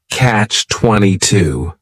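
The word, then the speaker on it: Catch-22: it's a compound noun the word catch is is just one syllable and then 22 is three syllables and the stress is on that final syllable Catch 22 the word comes from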